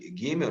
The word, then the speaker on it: Gimel: ela tem o som, o Gimel, soa como se fosse seguida de um H aspirado e muito rápido, tá?